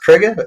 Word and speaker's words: Kruger: Actually, is that pronounced Kruger? Did I get that right? Yeah, Kruger.